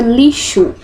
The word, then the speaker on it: lixo: do S fixo e aqui na palavra lixo ele tem o som do CH né do dígrafo ch esses sozinhos esse fonema